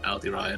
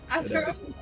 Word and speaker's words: Aderyn: Aderyn, sorry. Aldi How many different pronunciations can we get in this campaign? I don't right. Aderyn. Aderyn.